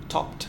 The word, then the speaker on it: topped: which take this so verbs that end in p also end with t in the past simple um an example is top topped sometimes we use top